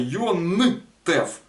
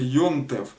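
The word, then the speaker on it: יום־טובֿ: религии религиозной теме есть но произносить правильно йентев вот так вот то есть это запомните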